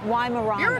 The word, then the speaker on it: Weimaraner: though how do you say it lying around Weimaraner Weimaraner a billy club i was really close aren't